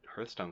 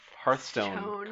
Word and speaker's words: Hearthstone: Well, he had been working, like he did Hearthstone cards. Did I say that right? No, you said it wrong. He did Hearthstone cards. Hearth, like a fire.